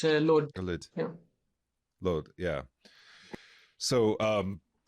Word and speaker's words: Lod: In Arabic, we should pronounce it. Yeah, Lid. I think in Hebrew it's Lod.